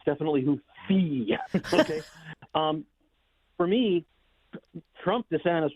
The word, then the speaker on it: Houthi: It is pronounced Houthi, not Houthi.